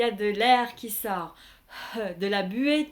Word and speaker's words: lợn: Et E avec le N ensemble se prononce un. Vous n'allez pas prononcer complètement le N. En fait, au lieu de dire un, vous faites un et vous arrêtez là. Un. Et avec le point, l'ensemble donne la.